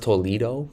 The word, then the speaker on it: Toledo: Oh, it's pronounced Toledo.